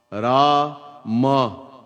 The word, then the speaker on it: Ram: He could not say Ram. Ra-ma. 2 syllables.